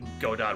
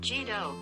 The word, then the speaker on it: Godot: Despite this, the name is often pronounced Jido in the United States, as is the case in the English dub of the anime adaptation. In Japanese, the name is pronounced Godo, which is also the case for the Ace Attorney character.